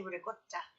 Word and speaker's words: ricotta: I'm half Italian, we say ricotta. Ricotta. It's got a C, but for some reason we pronounce it with like a G, ricotta.